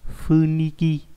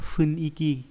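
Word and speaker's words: 雰囲気: hay là điều hòa Funiki Funiki nhưng mà không phải đọc đúng nó phải là phuniky cái bầu không khí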